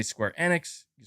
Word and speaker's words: Enix: pragmatocat you're saying MBG it's pronounced Annex not Enix Chad is this true